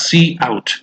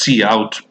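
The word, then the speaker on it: cout: of iOS stream right okay is pronounced at pronounced as C out okay right and it's predefined object that represents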